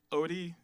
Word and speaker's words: Odie: Odie, it rhymes with Obi, so let's go.